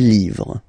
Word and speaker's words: livres: Les, and then same rule, you just write livre, and then you put S at the end, but then you don't pronounce it. Les livres.